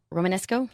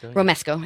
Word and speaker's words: romesco: Mexican food as opposed to say like a Romanesco robust romesco I say it wrong every time you know